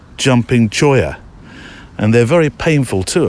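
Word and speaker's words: cholla: I looked up it's it's spelled c h La a but you I just hear it said as choya um I looked it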